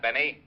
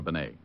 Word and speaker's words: Bené: It's pronounced Bené, not Benny. That idiot was calling him Rene Benny. Walt, how did you know I was working for Bené?